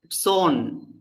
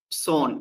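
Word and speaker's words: צאן: Number one, zone. Zone. It begins with the sade and the aleph is silent. So it is zone.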